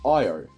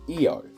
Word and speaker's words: Io: Io is in fact not pronounced Io, but is actually Io, but that's pretty much it.